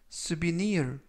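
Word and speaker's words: souvenir: 뜻이 되겠습니다 이번 표현은 스 비니 우르 스 비니 울 쓰 비니 1 으 이라고 발음 하시면 되겠고요 강세는 뒷부분에 있는데요 뒷부분에 있는 알파벳 아이의 아이의 강세가 있습니다 그래서 쓰 bel 이라고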